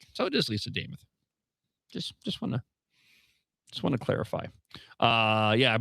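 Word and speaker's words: Lisa Demuth: Last night, Lisa Damas gave a little tutorial on how to pronounce her name. She told us all that it rhymes with Joe Namath.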